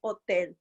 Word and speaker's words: hotel: Don't forget, H is silent, right? So we say hotel.